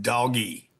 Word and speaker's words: DOGE: Number two, this is, for some of you, DOGE is pronounced doggy.